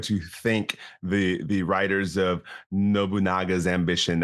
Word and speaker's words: Nobunaga: thank the writers of Nobunaga's Ambition. I mispronounced. I was looking at it, I was like, oh, I called it Nabunga as a 15-year-old kid